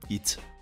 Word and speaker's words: HYT: Pour lui, la marque se prononce tout simplement HIT.